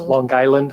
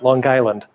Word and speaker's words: Long Island: I said that on purpose, Long Island. They always pronounce it with one word. It's not long, it's not island, Long Island.